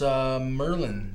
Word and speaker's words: Merlign: Oh, that explains why your name is Merlign, then. Precisely, Markham. Although I added a silent G to keep my remarkable powers a secret from the office.